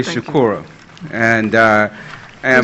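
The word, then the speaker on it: Shukura: My name is Shakura, and I am spell it? Okay, like Mangalisa. Can you say it again? And Shakura, S-H-U-K-U-R-A.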